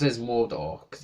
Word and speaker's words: Mordor: But I pronounce it as Mordor, because it's easier.